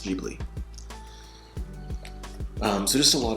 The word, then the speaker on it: Ghibli: that it's pronounced online it is uh it's pronounced Ghibli um so just a lot of you know